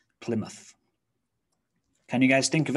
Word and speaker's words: Plymouth: of a river but when we're talking about place names we reduce it to muth plymouth can you guys think